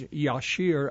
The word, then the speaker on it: Jasher: One, the book of Jasher, which the correct pronunciation is Yashir, I was told by a Jewish gentleman.